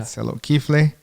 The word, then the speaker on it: Tselot Kifle: Tselot Kifle.